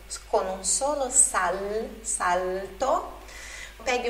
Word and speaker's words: salto: Prendi il mio tempo e la magia, che con un solo salto, olha a pronúncia aí do L antes de consoante, né? L, con un solo salto, pegue o meu tempo